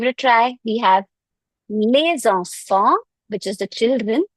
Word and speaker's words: les enfants: Here we are pronouncing it as les because we had a liaison rule. We had a next word is a vowel. So we have to pronounce the last letter.